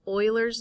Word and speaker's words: Euler: an irrational number e is actually known as euler's number of course you pronounce it euler but it's spelled e-u-l-e-r euler's